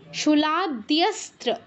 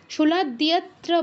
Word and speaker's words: শূলাদ্যস্ত্র: কিন্তু বস্ত্র, তারপর অস্ত্র, ঠিক তেমনই শূলাদ্যস্ত্র, দ্যস্ত্র, কেউ শূলাদ্যত্র বলবো না, দ্যস্ত্র বা শূলাদ্যস্ত্র বলবো না, তয়ের উচ্চারণটা আনতে হবে, শূলাদ্যস্ত্র।